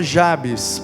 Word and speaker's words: Jabez: Tem gente que pronuncia o nome desse cara como Jabes. Não tem problema não. Prefiro falar Jabes, porque me parece que no original a tônica está no IA, né? Ia-Betz.